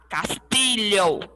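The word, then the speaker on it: castillo: l o l dublin pode ser pronunciado como se fosse o nosso lh tá bom vocês podem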